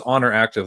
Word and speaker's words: Oner Active: It's Honor Active, but it's spelled one, so ONER Active.